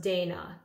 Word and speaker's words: Dana: Chantilly by, I think the house is pronounced Dana, D-A-N-A. I have the Eau de Toilette, and it looked just like this.